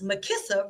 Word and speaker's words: Makissa: Makissa rhymes with Melissa.